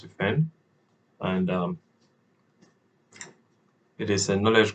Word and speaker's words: D3FEND: So yeah, but apparently it's pronounced defend, and it is a knowledge graph of cybersecurity countermeasures, and it's funded by the Cybersecurity Directorate of the NSA.